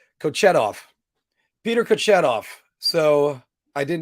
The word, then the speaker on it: Kochetov: Oh, because I wanted to make sure I pronounce it right. Kochetov.